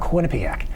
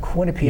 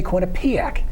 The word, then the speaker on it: Quinnipiac: And the night that Quinnipiac beat Miami, Rebecca Lobo's on ESPN teaching the proper pronunciation of Quinnipiac. Yes. Too many people say Quinnipiac, and that's incorrect.